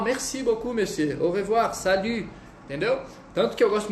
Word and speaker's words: salut: Para quem não sabe ainda pronunciar, salut.